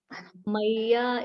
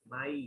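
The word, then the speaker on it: mayy: Maya eva mana. Not Maya, there's no A. Mai.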